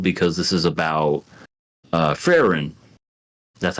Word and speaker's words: Frieren: that's being told because this is about uh frin that's how you say it frin f no